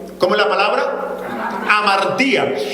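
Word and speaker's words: ἁμαρτία: Porque cuando vamos al original del griego, que es el Nuevo Testamento, la palabra pecado se escribe como amartía, con tilde en la i. ¿Cómo es la palabra? Amartía.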